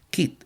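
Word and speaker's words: quid: Kit es Q de de Q de queso. Q u y d kit. Así se se escribe.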